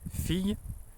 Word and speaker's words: fille: Typically the word daughter, which in French is fille, so I can pronounce it like completely like with an E and a yod. But at some point, like, I would also could drop the yod, especially if it's like